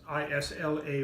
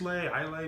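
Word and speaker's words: Islay: have a couple from Isla which is is La why looks like is lai la but it's Isla we have all the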